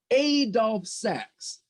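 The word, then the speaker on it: Adolphe Sax: you're gonna you're gonna practice how to say this guy's name that's right the saxophone was named after the inventor of the saxophone adolph sax a dolph sacks yes yes yes aurav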